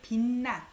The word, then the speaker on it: 빛나: This CH sound becomes N. Maybe because next syllable starts with N. So when you say or hear it, 빛나. It's hard to say 빛나, right? So it ends up being D. This CH has a bottom. On the bottom, usually you pronounce it as what? D. This becomes N.